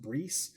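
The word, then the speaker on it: Brice: general and and it's his name is pronounced Bree, which took me forever to nail down. Bree, sorry.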